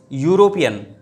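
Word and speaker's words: European: उसके बाद फिर ही इज़ यूरोपियन, ई से स्टार्ट हुई स्पेलिंग, लेकिन यूरोपियन आपने कहा, या की आवाज़ आ गई, इसलिए क्या हो गया आ यूरोपियन।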